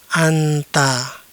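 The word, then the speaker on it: أنت: Selanjutnya, jika terdapat alif, nun, dan ta, maka dibaca "anta".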